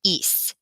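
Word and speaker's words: ís: SN fo s and that is pronounced eise so ice a eise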